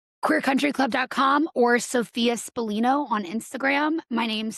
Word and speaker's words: Spallino: And then I was just telling Erin before the show, my last name is Spa, like the spa.